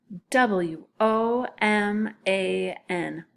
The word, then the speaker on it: woman: it says what Oh woman okay and this a and at the end doesn't say an it more sounds to me like in like a short I thought that's why